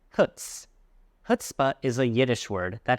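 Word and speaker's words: chutzpah: has a lot of chutah. It's not pronounced chutzpa. It's pronounced hutsp. h. The emphasis is on the first syllable. Hutz. Hutspa is a yiddish word that has been adopted into English.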